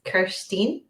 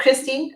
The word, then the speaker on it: Kirsteen: Anyone listening from stateside will find it really hard to say my name, but it's Kirsteen, not Christine or Kirsty or Kirsten.